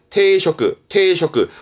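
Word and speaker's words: 抵触: 발음은 테이코, 저항하는 저자가 되겠습니다. 뒷글자 촉자라면 저촉되는 건데요. 테이쇼크, 뭔가 법에 저촉이 되어진다는 말을 하잖아요.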